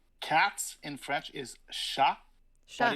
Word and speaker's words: chat: Like cats in French is chat, but it's spelled like chat. So the T is silent.